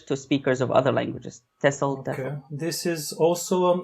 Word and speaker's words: TESOL: And then your TEFL and TESOL is the pronunciation?